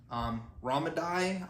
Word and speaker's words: Ramadi: I mean, yeah, this is based off the 2006 Navy SEAL mission that happened in, I believe it's pronounced Ramadi, Iraq.